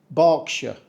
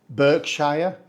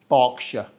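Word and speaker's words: Berkshire: this one it's pronounced barkshire we do not say Burkshire or burshire or Burkshire the key here is to ignore the spelling just think of a dog barking and you've got it barkshire barkshire is home to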